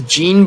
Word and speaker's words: Jean: His name is called Jean and not Jean, because the last time that I read this game, I pronounced his name as Jean, but like the devs, because they are like partially French, so I had to pronounce it as Jean because it's Jean, so Jean. Yeah, that's just like the French pronunciation.